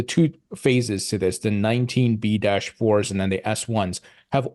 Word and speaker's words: 19b-4: about was the two phases to this, the 19B-4s and then the S1s. Have all the potential issuers already updated their 19B-4s, if I'm saying that right?